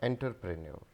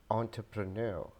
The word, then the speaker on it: entrepreneur: and economics economics economics this wood is not enterpreneur enterpreneur this is entrepreneur entrepreneur entrepreneur this word has three pronunciations and the most common one is the